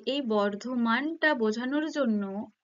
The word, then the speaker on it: বর্ধমান: ধ্বনির একটা পরিবর্তন ঘটছে আবার যেমন বর্ধমান বাংলায় লিখলে বর্ধমান বর্ধমান উচ্চারিত হয় সেটা যখন লেখা হয় এরকম ইংরেজিতে কি হয় কিছু কিছু ক্ষেত্রে যে বার্ডোয়ান এরকম একটা হয় উচ্চারণ কিন্তু ওটা বলতে বর্ধমানকেই বোঝানো হচ্ছে কিন্তু এই যে সমবর্ণের